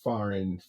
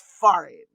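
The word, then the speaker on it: farin: So we use that word you know kind of like smush it together and say foreign f a r i n. That's how I spell it.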